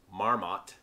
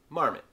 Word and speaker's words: Marmot: a pair of leakys i most often hear this brand pronounced marmot it is actually pronounced marmot just like the animal this german pack manufacturer